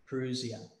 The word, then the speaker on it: parousia: interpreted Institute English is parousia and Joey you spell that for us yeah it's PA r oh you si a parousia and this is a technical term I just